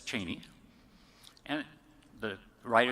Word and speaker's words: Cheney: so the writer to know how to properly pronounce the vice president's name was it Cheney or geny well yes dick said it's Cheney and the writer said so what kind of